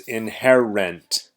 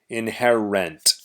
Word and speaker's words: inherent: inherent again pronunciation is inherent inherent inherent remember that the end is rent rent just like paying the rent paying the rent for